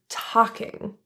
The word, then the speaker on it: talking: great talking to you the L is silent in the word talking also the ing in